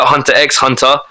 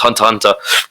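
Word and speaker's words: Hunter × Hunter: to be hunter hunter people call it hunter x hunter but supposed to be pronounced hunter hunter there's a scene where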